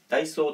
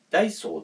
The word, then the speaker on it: ダイソー: ちゃうんですよ北海道の人って後ろ下げるイントネーションが多くてダイソー何何みたいなそういう言い方があまりないような気がするんですけどだ